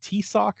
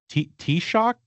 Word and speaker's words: Taoiseach: The key thing is that S pronunciation in the middle. We have. Oh, is it more like a? Oh, it's more like a sh.